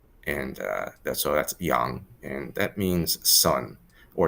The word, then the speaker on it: Yang: our last name is usually pronounced as yang which is pretty normal it's the standard romanization but her actual last name is pronounced young and that's oh that's young and that means son